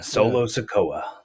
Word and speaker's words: Solo Sikoa: Solo Sikoa. Yep. Did I say his name right? You did. Yes. Yeah, Solo Sikoa.